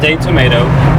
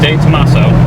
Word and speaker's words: De Tomaso: It's not day tomato. It's definitely day Tomaso. He asked me how to pronounce that when we started this video.